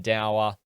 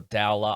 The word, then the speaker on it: Dowler: Orcs is Alan Dower, or Dowler, I should say. That's the second time mispronouncing that one.